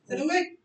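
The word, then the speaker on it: silhouette: Next we have सिलुएट. Precision क्या होगी? सिलुएट। कुछ इस तरह से ब्रेक होगा। स्ट्रेस किस पे है? ई और टी पे स्ट्रेस।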